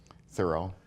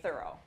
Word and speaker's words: Thoreau: does our panel feel thorough thorough thorough all right everyone pronounces it the same which is thorough but many people say Thoreau so if you hear